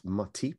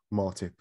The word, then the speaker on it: Matip: is that in joel matip and uh um by the way arlo alla white if you're listening it's it's matip not martip if you heard his